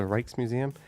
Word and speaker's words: Rijksmuseum: I was not aware of how to pronounce J's at that point, but it was the Rijksmuseum.